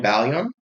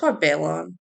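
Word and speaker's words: Bailon: Playing the role of Chanel aka Chuchi is Adrien Ball. Um Balon and maybe you should look up pronunciations before, but whatever. Balon.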